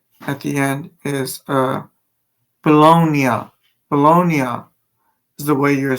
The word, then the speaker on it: Bologna: But however, you're supposed to say just like Italia, the at the end is uh bologonia. Bologonia is the way you're supposed to pronounce uh bologoney, but I don't know if you guys understand what I'm trying to say.